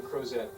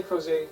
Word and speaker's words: Crozet: Did you say Crozet? See, I'm from Idaho. Well, I grew up in Utah, Crozet, and we pronounce everything wrong on purpose in Utah. So out here, they're still pronouncing things correctly, that's encouraging.